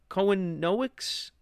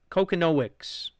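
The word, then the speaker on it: Kochanowicz: Cohenowicz? That is not how you pronounce it. Jack von Kokonowicz.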